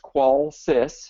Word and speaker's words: Qolsys: who are new to our webinar um series qualis pronounced qualis is short for quality of life life systems